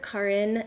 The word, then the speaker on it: Karin: Karin, and the way she taught me how to say it was... Like car in the garage. Boom. Yeah. Never forget it from Stick here right on here. out. Karin. Correct. Yeah. Not yeah. Karen. Not Karen.